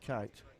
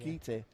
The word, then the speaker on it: Kite: Even though apparently it's not pronounced kite. Kite. Apparently. Kite.